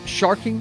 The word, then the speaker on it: sharkin: Yeah, these are the sounds of sharking for pearls. My brother's. I pronounced that wrong. Sharkin. Don't forget, you dropped the G.